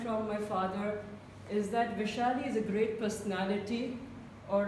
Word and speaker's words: Vaishali: by the opposite person they either call me wish or they can be anyways but what I can understand from my father is that Vaishali is a great personality